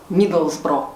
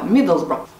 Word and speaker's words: Middlesbrough: Поэтому, если вы поедете в этот город, произносите название правильно. Миддлсбро. Причем бро практически не произносится. Миддлсбро.